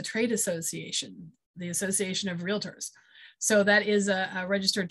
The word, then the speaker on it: realtor: the way side note this um realtor is two syllables it's not real utter it's realtor that's just one of